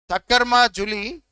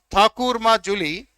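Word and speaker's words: ঠাকুরমার ঝুলি: Thakkar Ma Juli is pronounced as Thakur Ma Juli, is nothing but collection of tales for the children.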